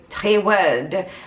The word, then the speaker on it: Trewrld: And then we've got another package from Trewrld. I found out how to pronounce the name. It's Trewrld.